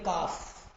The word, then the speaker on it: calf: अब ये L silent रहेगा तो क्या बोलोगे? काफ।